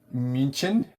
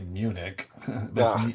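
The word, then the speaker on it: München: We did uh munchin or as your dumb American ass might say Munich.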